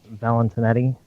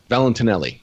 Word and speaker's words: Valentinelli: Shoot, what is the full proper pronunciation of her name? Valentinetti, I think. Valentinelli, yeah. Valentinelli.